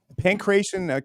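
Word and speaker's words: Pankration: Pancration.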